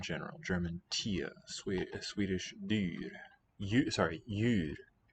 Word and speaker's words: djur: Djur. The D is written, but it's no longer sounded.